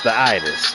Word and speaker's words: itis: Hey Maze, is it uh itis or itis when you get full it tis? The itis. You know, some people might pronounce it with a D, but it's the itis with a T.